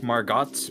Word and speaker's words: Margots: It's like Margots, but it's pronounced Margot. T is silent.